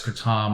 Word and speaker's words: kratom: And I think a lot of people out there will identify Kratom as kratom. I call it kratom because it's the correct pronunciation is a Thai word.